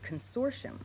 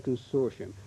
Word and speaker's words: consortium: Well, I think the dictionary gives two pronunciations, but I've always heard it consortium. Mm-hmm. You say consortium. Right. And Mr. Woodhouse, you say? I would say consortium.